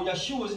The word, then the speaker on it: Yeshua: letters is YH, well, the pronunciation goes with it. It's Yeshua or Yahush. There's no way you get Jesus or Yeshus out of that.